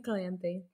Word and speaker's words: Calanthe: Thanks, Ray, for the correct pronunciation on that. Queen Calanthe.